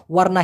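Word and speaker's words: warna: হয় ওয়ারনা ওয়ারনা না উচ্চারণটা হবে এরকম ও আর না ওয়ারনা যেমন ওয়ারনা পুতে মানে হচ্ছে সাদা রং ওয়ারনা হিতাম মানে হলো কালো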